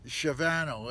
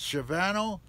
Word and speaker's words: Shavano: I'll get the name wrong, but it's Shavano, S-H-A-N-V-A-N-A-O. It's Shavano, and it's just friggin' gorgeous.